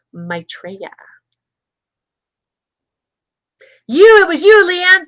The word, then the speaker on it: Maitreya: to find your desired outcome okay and it's pronounced maitreya maitreya you it was you leanne thank you it